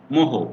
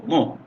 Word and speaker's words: mho: তাহলে এটা কত হলো, ট্রান্সকন্ডাক্টেন্স 2.0 ওহম কিন্তু নয়, এটা তোমরা ভালোভাবে খেয়াল করো, ওহমের উল্টা, মোহ, MHO, মোহ, যেভাবে উচ্চারণ করো।